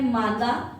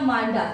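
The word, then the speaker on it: Manda: तो जो सबसे उत्तरी बिंदु है वो है मांगा या मांडा। एक ही बात है। स्पेलिंग में डी आएगा और ये है जम्मू एंड कश्मीर।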